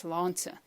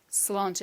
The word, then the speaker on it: Sláinte: you've ever been to an Irish pub, it's Sláinte. Sláinte, and it means, of course, health. Now let's try that so you know how to say it the next time you're in an Irish pub. So Sláinte, Sláinte, health.